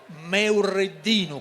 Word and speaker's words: Meurreddinu: E avranno modo di proporci anche loro un ballo tipico di Gonnesa, su ballo Meurreddinu, come giustamente specificano loro nella corretta pronuncia di questo ballo.